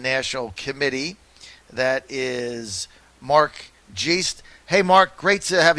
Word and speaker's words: Geist: That is Mark Geist. Hey, Mark, great to have you with us. Am I saying your name right, Mark? It's pronounced Geist, kind of like poltergeist.